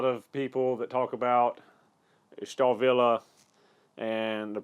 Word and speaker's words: Stahlwille: in middle school so I do know that w's are normally pronounced as V's so looking online for